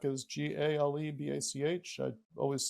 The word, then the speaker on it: Galebach: Galebach is Galebach. I always say for spelling and pronunciation, it's Gale like a gale force wind and Bach like a composer.